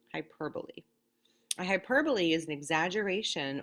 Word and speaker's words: hyperbole: be calling it a hyperbole it looks like hyperbole but it's pronounced hyperbole a hyperbole is an exaggeration or an overstatement